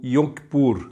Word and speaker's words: Yom Kippur: nível Nacional havia o dia do Perdão do yom kippur Como assim se pronuncia em hebraico dia do Perdão nesse dia